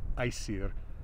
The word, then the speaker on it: Æsir: Modern Icelandic pronunciation is plural Æsir, singular os. Now, this is also a really common element in names, the first element.